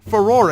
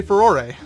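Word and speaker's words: Farore: and according to them, Furore is pretty close to the proper Japanese pronunciation, or how they would say it. So that's my opinion. You can say it however you want, but I say Furore.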